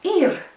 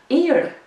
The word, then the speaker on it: ir: And the second word is ir. You know that word already. I'll pronounce it again twice, ir, ir.